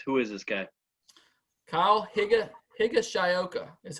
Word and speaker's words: Higashioka: Kyle Higashioka is how you say his name.